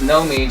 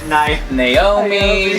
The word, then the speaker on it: Nomi: Well, it's Nomi, just so you know, it's Nomi. Nomi. N-O-M-I. I said it right, no? No, I know. I just want to make sure you know. I used to call her Naomi.